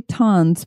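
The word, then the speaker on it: tonne: it was producing 20,320 tons per year and you actually do say that is ton even though it's spelled differently than how we spell ton a ton is a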